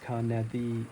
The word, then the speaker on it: Carneddau: I'm up here in the Carneddau, pronounced Carneddi, in Snowdonia.